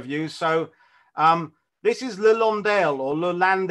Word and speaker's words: Londe: Landale although land L in French is pronounced Lawndale so it's all the